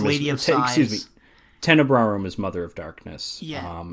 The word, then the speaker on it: Tenebrarum: There's one, how do you pronounce her name again? Is it Tenebrarum? Tenebrarum and Lacrimarum.